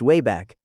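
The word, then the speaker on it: WABAC: Among Peabody's many innovations, one invention stood above the rest, the Wabbeck machine, pronounced way back.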